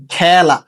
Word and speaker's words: খেলা: যেমন দেখো খেলা, এই যে একার আছে এবং ল, ল এর সাথে কি যুক্ত হয়েছে, আ যুক্ত হয়েছে, ঠিক আছে, এই যে আ যুক্ত হয়েছে, তাই উচ্চারণটা কি হচ্ছে, এ হচ্ছে খেলা।